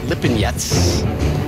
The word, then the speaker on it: Lipinets: Lamont Peterson takes on former 140-pound champion Sergey Lipinets in a headlining 12-round welterweight showdown. Lamont Peterson. Spelling his name wrong.